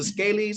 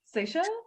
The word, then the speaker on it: Seychelles: What's the how you the scalies? How you say it? What? As a part of Africa. It's on the continent. Seychelles?